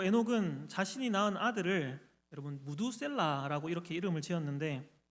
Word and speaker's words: 므두셀라: 그리고 에녹은 자신이 낳은 아들을 여러분 무두셀라라고 이렇게 이름을 지었는데 이 히브리어로 이 이름을 정확하게 발음하자면 메투셀라흐라는 그런 발음입니다.